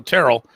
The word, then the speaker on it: Terrell: But and speaking of Terrell, I don't know how the proper way to pronounce it. I've messed you up forever. Yes, it's Terrell. It is. Okay. So Terrell, he called you Terrell for a long time.